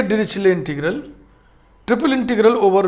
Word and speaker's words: Dirichlet: डिरिचले टा का उच्चारण इसमें नहीं होना, टी साइलेंट है. डिरिचले, डिरिक्ले भी का भी लोग बोलते हैं, सी एच को चा और का दोनों बोलते हैं.